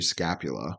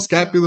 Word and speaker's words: scapula: know the scap the scapula is the shoulder blade for sure um the frenic nerve it does come into your throat yes it's your shoulder blade yeah I think it just rhymes with Dracula you know it's also